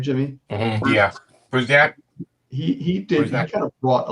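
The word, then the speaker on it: Bruzenak: Was that how you pronounce his name, Jimmy? Mm-hmm. Yeah, Brusnak.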